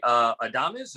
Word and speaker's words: Adames: I like, and again, I'm going to butcher the name, is Willie Adames. Adam? I call him Adam. Willie Adames. Yeah, Adames. Yeah, he was a guy,